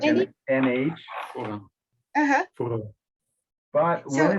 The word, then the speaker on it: foram: que é o da vida, e os mortos foram julgados pelas coisas que estavam escritas nos livros, segundo as suas obras.